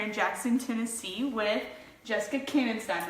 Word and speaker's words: Koenegstein: Hey everyone, I'm Jessica up here in Jackson, Tennessee with Jessica Koenegstein, right? That's how you pronounce it.